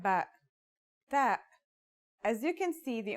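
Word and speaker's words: ت: The pronunciation is like the English T, except you should release your breath with a strong burst of air. Try it. Ta. Here's how to write the isolated version. Ta.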